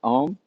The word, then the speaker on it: Om: go first one is ohm it's a short o long um and try to resonate